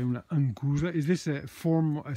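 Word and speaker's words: Anchusa: Ancusa, qua noi diciamo ancusa perché c'è il CH che si pronuncia in modo regolarmente all'inglese, CH si pronuncia C.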